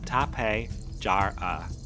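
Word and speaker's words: Tapejara: Sharing the skies of our Avery today is one of the most visually striking terasaurs ever discovered, the tapara, pronounced tape jar.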